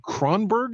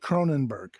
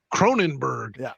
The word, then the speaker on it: Cronenberg: guy what's his name david kronberg is that how you say it david cronenberg cronenberg you're the guy that